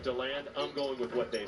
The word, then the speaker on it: DeLand: How do you know it's DeLand instead of DeLand? I'm trusting the people that are local to the area when they call it DeLand.